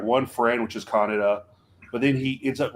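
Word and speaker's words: Kaneda: mean Canada I mean Canada no Canada is the proper way of pronouncing it Canada is more of an is a more of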